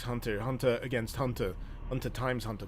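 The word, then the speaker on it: Hunter × Hunter: Alice is pronounced hunter hunter. But why why is there an X if it's pronounced Hunter Hunter?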